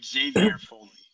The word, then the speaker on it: Xavier: there's always different ways of saying things but xavier okay xavier it starts with an x you